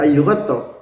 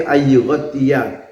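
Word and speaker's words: أن يغطي: Jadi jangan dibaca ayyughto, tapi ayyughtiya ar-rajulu fahu fis sholat.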